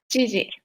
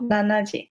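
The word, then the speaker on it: 七時: And then 7 o'clock would be jiji, not nanaji. And then 9 o'clock would be kuji, not kyuji.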